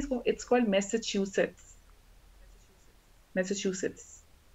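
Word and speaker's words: Massachusetts: शफा Khan मैसाचुसेट्स, it's called, कैसे pronounce करते हैं इसको, it's called मैसाचुसेट्स, मैसाचुसेट्स, मैसाचुसेट्स, सही है।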